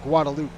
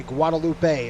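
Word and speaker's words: Guadeloupe: just say guadaloop and I hear a lot of people say Guadalupe it's not Guadalupe that's silent all right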